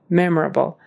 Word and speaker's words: memorable: My most memorable accent on the first syllable.